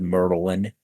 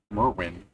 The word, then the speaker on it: Merwin: You're saying Merwin now? Cuz first you said Merlin. Yeah, I pronounced his name wrong. Merwin.